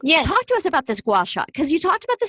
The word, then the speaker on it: gua sha: A gua sha.